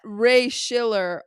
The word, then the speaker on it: Raye Schiller: Okay, I am at Raye Schiller, Raye. Well, I shouldn't say A. A. Wait, start over. I'm at Raye Schiller, RayeSchiller. There's a few silent letters in that, so people do get confused.